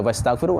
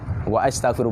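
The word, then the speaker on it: وَأَسْتَغْفِرُ: Bukan wastaghfiru, hamzah mutakallim, hamzah qata. Wa astaghfiru bukan wastaghfiru. Kalau istaghfara, kalau fi'il madi bacanya wastaghfara, ini wa astaghfiru fi'il mudhari'.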